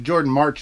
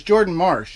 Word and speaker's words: Jordan Marsh: Jordan Marsh ornament and Jordan Marsh I pronounced it Jordan March any other video because I wasn't reading it very clearly but it's Jordan Marsh and Jordan Marsh was